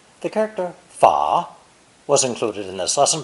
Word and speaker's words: 法: When used to transliterate the name of France, this character is often fourth tone, 法国.